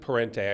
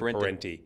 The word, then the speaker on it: Parente: They pronounce it Parente. I pronounce it Parente.